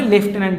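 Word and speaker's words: Lieutenant: উচ্চারণটা লেফটেন্যান্ট, কিন্তু বানানটা হবে এরকম LIEUTENNT, লিউটেন্যান্টের মতো, কিন্তু উচ্চারণ হবে লেফটেন্যান্ট, যেটা এটাই রয়েছে।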